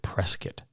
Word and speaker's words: Prescott: Now, it's spelled Prescott, but he pronounced it Prescott.